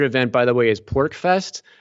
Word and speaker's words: PorcFest: The other event, by the way, is PorcFest. So it's spelled PORCFEST. So it's short for Porcupine Freedom Festival.